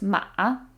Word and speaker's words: 马: There's a dip in the middle because it's third tone in Chinese, so it goes 马.